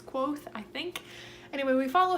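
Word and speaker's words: Kvothe: this and we follow clothes or I'm sorry quoth is that I'm pretty sure that's how you pronounce it it like gives you a pronunciation in the book it's quoth I think anyway we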